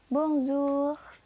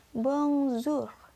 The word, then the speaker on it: bonjour: selalu lalu berikutnya ada kata Bong Zoo tulisannya Bonjour tapi kalian bacanya bongsu ini sering kalian temu